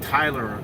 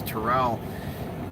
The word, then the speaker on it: Terrell: I was saying Tyler last time. It was Terrell.